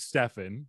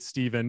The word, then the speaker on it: Stefan: I was gonna, by the way, my name's Stefan. It's nice officially meet you. Some people get Steven because of the phonetically ambiguous spelling of my name, my brand of homebrewed kombucha was gonna be Effer Stefan, Steffervescent.